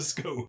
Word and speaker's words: scone: It's a stone, it's a phone, it's a bone, it's a scone. If we're going that argument, how would you pronounce a word that's spelled Gone? Gone.